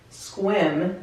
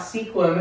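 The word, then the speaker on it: Sequim: hear I'm in Washington in squid not sequin as I like to call it because that's how it's spelled but for some reasons everybody call the sequin yeah there's an extra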